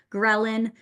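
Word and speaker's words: ghrelin: for the first time grin has that g sound at the beginning so G like your stomach's growling is what we call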